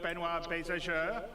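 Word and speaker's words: Benoit Beausejour: And without me waffling on, I'd like to bring CIG's CTO, Benoit Bézageur.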